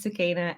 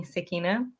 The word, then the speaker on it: Sukaina: quick quick tidbit so my name is sua everybody in my life calls me suina but uh but yes